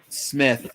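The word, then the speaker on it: Psmith: to P Smith so it's Smith smell with a p like Psalms okay and um his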